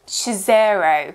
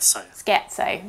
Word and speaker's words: Scherzo: awful I'm scared so oh scotso scattered sketzo there you go that's what the dictionary is saying and this one has